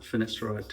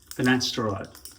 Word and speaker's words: finasteride: way, I'll take a finasteride tablet. Finasteride, not finasteride, I've been saying it wrong all these years.